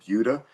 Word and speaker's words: Buda: I'm in a little town called Butuda. Uh, it no one pronounces it right. So, I just said call it the edge of Austin. B U D A.